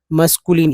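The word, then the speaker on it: masculine: था लेकिन लीन पढ़ेंगे मस्कुलिन ई का उच्चारण नहीं होगा मस्कुलिन होगा ई साइलेंट रहेगा बी बी बी एच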